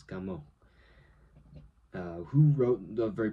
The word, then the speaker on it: Camus: So his last name phonetically in English is like Camus but it's French so it's Camo.